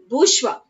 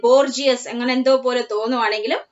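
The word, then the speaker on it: bourgeois: in latin is random okay rantivo one is bushwa okay though it look like borgias actual pronunciation okay this term is also very familiar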